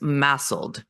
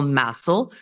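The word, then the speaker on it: MASLD: stoic liver disease and I want to point out that the D is silent which makes it a little tricky so under that umbrella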